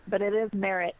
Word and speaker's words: Marrott: So no, you're saying it right, Marrott.